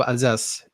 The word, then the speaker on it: Alsace: When I was in Am I right in Paris, saying it's the Alsace? Is that the right way to say it? Alsace Alsace, region? yeah, Alsace, yeah, yeah.